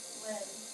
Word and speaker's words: Lynn: Said hi, Alex, like Flynn, with the F is silent. William. Lynn.